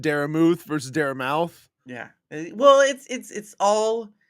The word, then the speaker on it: Daramouthe: Okay, the E is silent. The E is silent. It's Dara Muth, Dara Mouth.